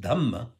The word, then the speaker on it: dhamma: It is the term dharma, pronounced dhamma in Prakrit dialects such as Pali.